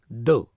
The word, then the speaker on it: the: article do is pronounced if bill comes before consonant sound then pronounce it as though for example the pin the box if it is placed before a vowel sound then you pronounce it as D for example the Apple the ink etcetera so far we have